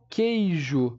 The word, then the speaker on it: queijo: no 11º exemplo aqui que é o queijo o meu u também aqui não é pronunciado tá vou até puxar uma